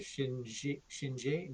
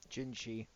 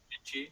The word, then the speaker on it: Jinshi: Jinshi. Jinshi. If you want to talk. Oh yeah, no. I mean, it's pronounceable. It's 2 syllables, man. Just got to get them in the right order, and I have that problem.